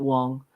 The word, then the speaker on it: Wang: Garrett Wang or Wong I think he pronounces it Wong um even though it's spelled w a n g uh he's going to